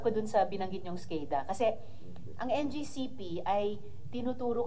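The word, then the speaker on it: SCADA: bago yung fall of question doun sa skada skada pala yung pronunciation non So yung logs niyo po ba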